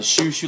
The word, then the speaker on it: Chouchou: to that couch ow it's a shoe shoe like a shoe or Shushi know what